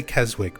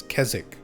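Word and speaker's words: Keswick: I always say Kezwick. People actually from there always correct me and say it's it's Kzzik or Kez Kzzik. You don't really pronounce the W.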